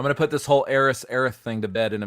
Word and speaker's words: Aerith: But the correct pronunciation of that name is Aerith.